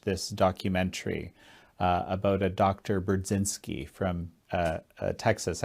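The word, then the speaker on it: Burzynski: Brudzinski from Texas. Actually, in Polish, you would say his name Budzinski, but that's how I always thought it.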